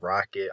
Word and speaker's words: RKKT: My name is RKKT, but it's pronounced Rocket. I'm from Springfield, Massachusetts.